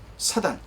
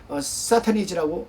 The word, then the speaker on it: 사탄: 있죠 예를 든다 라면은 사단 사단은 원래 사탄이라고 어 발음을 합니다 계시록 20장 20절에 기억되어